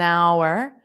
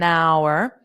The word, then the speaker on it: hour: An hour. An hour. So notice the word hour. The h is not pronounced.